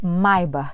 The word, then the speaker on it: Maybach: ficou com dúvida é com relação a pronúncia sim é mais barba que se fala pois a e é alemã curtiu o conteúdo compartilhe